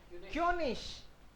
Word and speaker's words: König: क्योनिश, आई जी इश बोला जाएगा, क्योनिश।